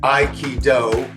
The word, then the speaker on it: Aikido: But I also was very attracted to the philosophy which was I I key do three Japanese syllables.